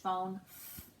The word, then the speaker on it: phone: it's the pH sound the pH is a digraph that makes the sound so we have pH phone okay our words today are